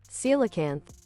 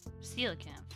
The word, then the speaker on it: coelacanth: Let me get the pronunciation. Coelacanth. Coelacanth.